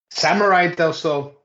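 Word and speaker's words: Samuray del Sol: Samurai del Sol. That's how it's pronounced.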